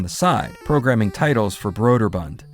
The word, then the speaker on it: Broderbund: Though Tim had always been working on the side, programming titles for Broder Bund, which I've heard is actually pronounced Bruder Bond.